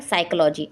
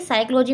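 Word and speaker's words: psychology: question हमारा है च राइट इ silent in the word साइकोलॉजी यहां पर आपको आ गया कि साइकोलॉजी में कौन सा साइलेंट पता है तो यहां पर क्या है पी हमारा साइलेंट वर्ड है आगे देखते हैं अगला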